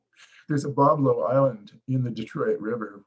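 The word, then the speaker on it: Bois Blanc: blah but it's pronounced babo through the influence of the corrupted French of the Detroit River Region there's a bablo island in the Detroit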